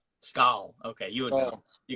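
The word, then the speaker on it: Skål: I believe you pronounce it Scala? Skal.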